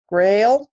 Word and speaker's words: McGrail: and I have with me this morning John McGrail is that the right way to pronounce it John it is okay and he's